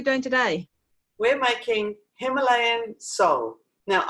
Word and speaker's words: sole: We're making Himalayan Sol. Now, I call it Sol. It's supposed to be pronounced Soleil, but it's S-O-L-E.